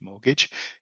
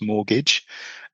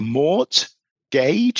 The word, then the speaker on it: mortgage: And in actual fact when you spell it, it's spelled M O R T and then gidge or gauge or gidge, mortgage. It's said quite quickly the second bit so it's mortgage.